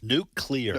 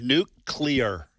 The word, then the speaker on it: nuclear: So, tell me how to say the word nuclear. All right, hold on. New I'm going to say n u k e. Yeah. Like where you eat where? I got you. Nukes. Nuke. Nuclear. Oh, like like clear.